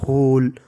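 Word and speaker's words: whole: तैयारी करना ही prepared W एच ओ एल ई इसे पढ़ेंगे होल होल डब्लू इसमें साइलेंट रहता है होल का मतलब होता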